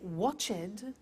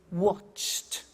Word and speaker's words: watched: the pronunciation becomes T we don't say watch it we eliminate the e and we say watched okay interesting hey so